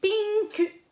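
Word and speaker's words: ピンク: Donc, au lieu de dire pink, parce que si on dit pink, bien souvent, ils ne comprendront pas. Oui, ils vont faire semblant de ne pas comprendre. Donc, on dit pinku.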